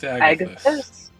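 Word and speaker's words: Agathys: Just Agathis.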